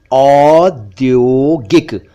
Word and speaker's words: औद्योगिक: ऐसे ही एक शब्द है हिंदी में औद्योगिक यानी इंडस्ट्रियल, औद्योगिक। देखिए इसमें पहले औ साउंड है फिर ओ साउंड है, औद्योगिक।